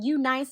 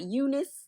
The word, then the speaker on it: UNice: And this unit is by U nice. You know I just learned it's pronounced U nice and not Eunice.